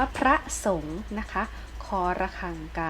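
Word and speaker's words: พระสงฆ์: อ่าน ว่า อะไร เอ้ย อ่าน ว่า พระ สงฆ์ นะ คะ ขอ ระฆัง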